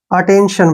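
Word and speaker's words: attention: आई ओ आया है जब भी टी के बाद आई ओ एन आता है तो टी का प्रोनाउंस हम श करते हैं इसलिए यहां पर इसको हमने अटेंशन पढ़ा है ऐसे अटेंशन ठीक है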